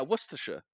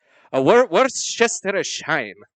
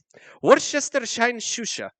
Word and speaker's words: Worcestershire: think it is because it's like Gloucester Worcester shirt yeah Worcestershire okay yeah there's this